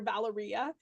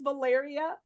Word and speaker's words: Valeria: I kept calling her Valeria. And she looks at me and she's like, no, it's Valeria like malaria, not Valeria like diarrhea.